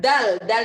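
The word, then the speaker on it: د: Sekarang dal itu sama dengan d. Nih. Dal. Ingat D-nya itu digigit juga, ujung lidahnya digigit.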